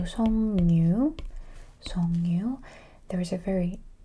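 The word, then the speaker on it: 석류: Pronunciation is changing completely into 성류.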